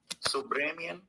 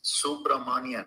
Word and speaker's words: Subramanian: followers who early on, sorry, I was pronouncing uh Judge Sorry, Judge Subramanian's name incorrect. Oh boy. Subramian? Really? I heard another reporter say submaranian. Come on you guys. It's Subramanion.